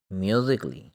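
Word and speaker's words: musically: म्यूज़िकली, यानी सी के बाद डबल एल वाई फॉरी, ए को हम प्रोनाउंस नहीं करेंगे।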